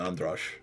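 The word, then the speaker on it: András: We'll call it in Hungarian Andras.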